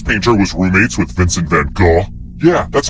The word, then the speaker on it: van Gogh: Which famous painter was roommates with Vincent van Gogh? Yeah, that's how you pronounce his name.